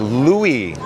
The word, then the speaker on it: Louie: Cory says, "You can always pronounce my last name as Louie.